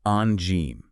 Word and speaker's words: Angine: It's pronounced N Gène. N Gène. So, N like a soft, almost nasal sound. Exactly. And Gène with a soft G like the start of the word vision.